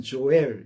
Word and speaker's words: 요엘: 얘기하기는 제가 어렵고 여러분들이 영어로는 조엘 이렇게 발음을 하죠 조이라고 하는데 우리 발음으로는 이렇게 해요이 요엘 선지자를 통해서 역사 속에서의